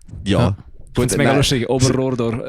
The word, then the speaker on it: Oberrohrdorf: Oberrohrdorf. Es ist Oberrohrdorf wird eigentlich immer recht falsch lustig. ausgesprochen. Ich habe immer das Gefühl, alle sagen Oberurdorf.